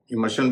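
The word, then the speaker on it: immersion: कुछ शब्द ऐसे हैं जिनमें आर बीच में है, यानी आर के बाद SION है, वहां पर शन और जन दोनों उच्चारण चलते हैं।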